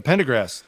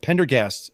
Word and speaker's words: Pendergast: And I also heard Sarah, the Pendergrass fished, I keep saying their name wrong. Pendergast fished this tournament, both of them, both Chris and Sarah.